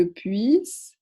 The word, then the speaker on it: puisse: Faites attention quand vous le prononcez à ne pas oublier le i ici. Que je puisse, que tu puisses, qu'il puisse, que nous puissions, que vous puissiez, qu'il puisse.